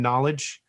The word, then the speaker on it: KnowleDJ: way to find me just my name knowledge and that's spelled k-n-o-w-l-e-d-j and um which is same thing yeah and then there's then